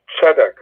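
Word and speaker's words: צדק: on the first syllable hebrew words are normally accented on the last syllable when it comes to cigalette bounds they are accented the stress is in the first syllable so it's sadaq it is eretz it is these are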